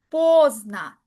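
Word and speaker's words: поздно: La tilda está en la primera o, por lo cual la última o se lee como una a. Posna, tarde.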